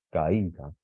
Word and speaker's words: caída: Caída. Por este caso, aunque sea una A y una I, que sería vocal abierta más vocal cerrada, las tenemos que separar. Caída. Esta es la sílaba tónica, digamos, ¿no?